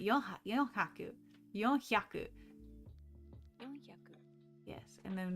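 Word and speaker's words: 四百: Yonhyaku.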